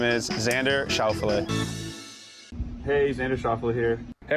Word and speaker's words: Schauffele: PGA Tour says that the name should be pronounced. This is from the PGA Tour themselves, and they're saying it should be Schauffele.